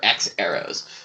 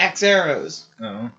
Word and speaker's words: HxEros: the way it's spelled the h is silent i don't know how